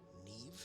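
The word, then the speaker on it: Niamh: Allow me to introduce former Hogwarts headmistress, Neve Fitzgerald. How is MH pronounced as V? Neve?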